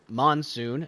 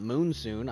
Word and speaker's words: monsoon: to me that uh this is Monsoon not moonsoon I thought there was two o's I don't know why